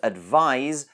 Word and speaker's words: advise: at the end whereas advise se has more of a Z sound we've talked about the